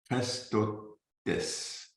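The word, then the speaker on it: χρηστότης: Je ne sais pas si je peux le prononcer, donc je demande votre patience. C'est C-H-R-E accent aigu S-T-O-T-E accent aigu S. Christotes.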